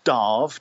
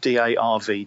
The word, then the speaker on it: Damh: Officially it's pronounced Darv, D-A-R-V, Darv, but my name is Dave, so I just literally use D-A-M-H as my spelling of Dave the Bard.